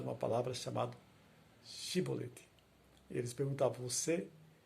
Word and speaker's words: chibolete: homem negasse eles o mandavam dizer chibolete se ele era de Efraim dizia sibolete pois o povo de Efraim não consegue pronunciar essa palavra corretamente então eles o capturavam